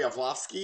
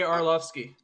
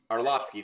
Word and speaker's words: Arlovski: do Santos and um Andre olowski is that how you say his name I'm not an Andre Arlovski Arlovski thank you I'm not an MMA